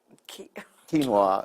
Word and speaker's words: quinoa: Quinoa.